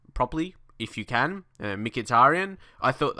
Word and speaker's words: Mkhitaryan: properly if you can mkhitarian I thought I think that's pretty much how you pronounce his name in English probably not 100% correct